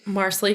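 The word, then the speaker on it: Marsali: right so here yes marsley rhymes with parsley was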